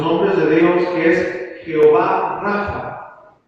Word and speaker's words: Jehová Rafa: O como bien se le conoce en la Escritura, en los nombres de Dios, que es Jehová Rafa, con la acento en la A, ¿verdad?